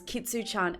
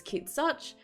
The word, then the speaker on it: Kitsu: and sweet for instance my first ever username was kitsu X but I did did notice that a lot of people were not pronouncing it correctly they were pronouncing it as kit such or just really getting confused so I shortened it down to kitu and people only call me kitsu you need to keep